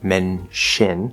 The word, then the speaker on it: mention: Similarly, in words like mention, which can also be menshin, it could be a CH or an SH.